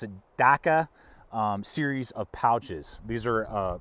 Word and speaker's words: DAKA: or so on the Magpul, I believe you pronounce it DAKA, series of pouches.